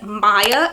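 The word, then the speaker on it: Maia: It is Maya, and it is spelled M-A-I-A.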